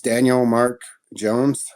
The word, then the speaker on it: Daniel Mark Jones: saying your full name so we get the pronunciation right and what you know tell me a little bit about you my name's daniel mark jones i was born in salt lake city grew